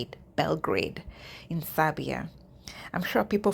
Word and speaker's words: Belgrade: They're also recruiting in Serbia, Belgrade. That's how you say it, Belgrade, in Serbia.